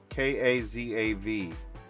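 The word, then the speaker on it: כזב: The transliteration in how we pronounce this word is K A Z- A V Kazav.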